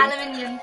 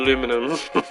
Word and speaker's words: aluminium: Aluminium. I know, but it's not spelt that way. It's spelled aluminum. I know. Oh, I'm sorry. No, I refuse to say aluminum.